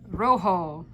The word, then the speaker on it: rojo: what do we have Rojo it's the rolling of that R that's right oh did